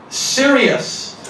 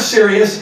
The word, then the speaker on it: Sirius: Its name, Sirius. Yes, I'm serious. Its name is Sirius. S-I-R-I-U-S is how we spell it.